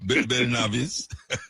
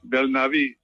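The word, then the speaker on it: Belnavis: This is well, you pronounce my name. You can have a twist to it. Bel Navis. It's Spanish. Bel Navis.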